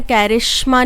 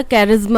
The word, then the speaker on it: charisma: कैरिश्मा नहीं होता, कैरिज्मा होता है, ठीक है. CHARISMA, कैरिज्मा.